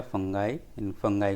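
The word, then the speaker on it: fungi: examples में some bacteria फंगा फाई को कुछ सम प्रोनाउंस इट लाइक फंजा या फंगी भी कहते हैं तो फंगई अपीयर इन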